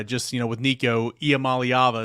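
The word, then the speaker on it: Iamaleava: you know with Nico IAM malava is how you say his name of course um ability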